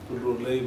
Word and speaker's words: Loralai: The word Lorali can't be pronounced in English so they wrote it Loralai and still it is known as Loralai.